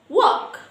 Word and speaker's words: walk: So almond, talk, walk, salmon, not salmon. Because these four letters have a silent L.